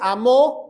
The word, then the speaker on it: amó: nadie y cuando dice amó dice de tal manera Cristo te amó lo dice en tiempo pasado con acento en la o que quiere decir él